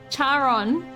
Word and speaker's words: Charon: I literally just said it a little bit ago and I didn't make the connection that it sounds like Karen.